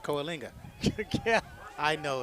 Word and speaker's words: Coalinga: Beat AO is 35 to 18 cisus beat Coalinga 29-21 Kinga Coalinga that's what I said Coalinga yeah I know it's Kinga Harris runs